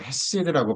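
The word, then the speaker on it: חסד: 자, 히브리어로 헤세드라고 발음을 하는데 자, 이것을 우리의 믿음으로 또 신학적으로 한번 적용해 보겠습니다.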